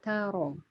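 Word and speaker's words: تر: Keduanya ro tebal karena berharokat fathah. Alam taro. Alam taro.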